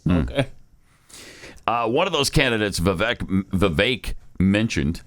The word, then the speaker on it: Vivek: I guess he pronounces it Vivek. Okay. He's talked with Glenn many times. And I keep asking him, are you sure it's Vivek? Because it really looks like Vivek.